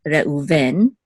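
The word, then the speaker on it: Reuven: Reuben in English um in English I guess usually default is the accent markers on the first syllable in Hebrew the default is the accent mark is on the last syllable however there's exceptions um I guess in both languages there's exceptions so so English is Reuben Hebrew is Reven right and this is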